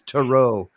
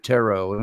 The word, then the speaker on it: tarot: pretentious for me because he mispronounces tarot he says Tero instead of tarot which means he's trying